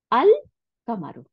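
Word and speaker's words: الْقَمَرُ: তাহলে আল কামারু, দেখেন আল উচ্চারণ করলাম এবং কামারু, কাফের উপরে কোনো, কফের উপরে কোনো সাদ্দা দিইনি, কিন্তু দেখেন শামসি ওই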